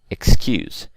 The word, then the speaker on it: excuse: that's correct we'll say excuse because all the other words are stressed on the first syllable but excuse is not okay I think we